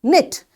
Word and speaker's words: knit: k is again silent knit knitting so this k is silent knob the handle anything